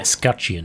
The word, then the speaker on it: Escutcheon: Escutcheon.